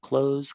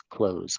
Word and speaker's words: clothes: is going to be pronounced exactly the same as the verb close so close close close close exactly the